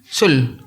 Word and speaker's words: Seoul: Itu bacanya gimana sih? Sul. Kalau sol kan sepatu. Iya, Seoul apa?